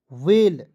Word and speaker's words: we: WE, double L, देखिए W से व, ई से एक की मात्रा, डबल एल, वेल।